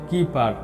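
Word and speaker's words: Kuiper: কাইপার belt pronounced কিপার।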